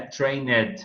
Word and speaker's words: Trained: Ou não estende esse E, né? Trained. O ED não pronuncia o D.